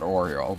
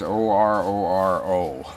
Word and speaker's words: Ororo: This is, I call it Oreo, but that's not it. It's Ororo, so whatever.